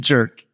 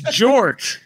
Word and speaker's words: Jork: And Jerk. Bestie. It's Jork. I immediately saw that and knew.